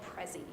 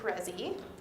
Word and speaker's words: Prezi: one that i've been using recently is called Prezi so you want her to Prezi before we spell it for you the way you spell it